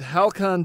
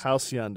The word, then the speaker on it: halcyon: somebody might correct us it is pronounced halcyon days house young my apologies but that